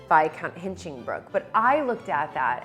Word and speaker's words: Hinchingbrooke: credit card say Viscount Hinchingbrooke? And he looked at me in somewhat horror and said, no, it's not pronounced that way. It's pronounced Viscount Hinchingbrooke. So of course I looked